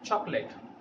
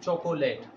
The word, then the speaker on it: chocolate: Yes, native speakers pronounce it chocolate. but in India we sometimes pronounce it chocolate.